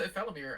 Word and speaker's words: Ephelimir: Six is saying I already pronounced his name correctly. Yeah, it goes to Ephelimir.